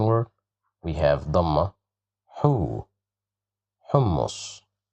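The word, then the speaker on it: حمص: Okay, so the second word, we have dhamma, hu, hummus, hummus, hummus. Here we have dhamma, that's why we pronounce it as hu.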